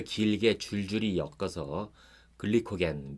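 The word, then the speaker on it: glycogen: 들어오는 탄수화물이 많으면 몸은 포도당을 좀 더 길게 줄줄이 엮어서 글리코겐, 미국식 발음으로는 글라이코전이라는 물질로 만들어서 간과 근육에 저장을 합니다.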